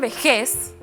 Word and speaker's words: vejez: ¿Qué pasa con vejez? Sonó fuerte en la última sílaba. Termina en Z, por eso no lleva tilde.